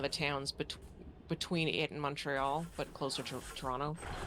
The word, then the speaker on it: Montreal: And one thing that it always bugs me like you can always tell someone who's not from Montreal cuz the first syllable rhymes with fun not fawn.